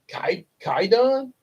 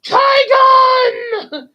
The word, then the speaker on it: Kaigun: The four of them engage in the battle, and there's a funny moment where they keep getting um, Kaigun's name wrong, like Kaidun, Kaigun, Kaipu, Kaigun, Chiron. It's Kaigun. It's almost like this Channel Awesome movie I once watched to Boldly Flee.